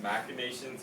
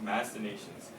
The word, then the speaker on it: machinations: So this 첫 번째 단어, sometimes this is pronounced machinations and sometimes machinations, but it usually means like a scheme, okay, 방침 or 음모론, or for example, people are conspiring.